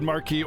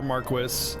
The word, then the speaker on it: Marquis: we'll stop Yes Marque Marquee can be said Marquee or Marquis it's it both are correct pronunciation I I it bothers me when they say marquis I prefer Marquee but it's it's technically both are allowed Maris Andor announced my